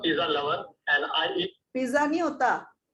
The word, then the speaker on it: pizza: जो भी Italian word है ना जिसमें 2 Z आते हैं हाँ जी मैम. उसकी प्रोनाउंसिएशन देखो त और स हो जाती है.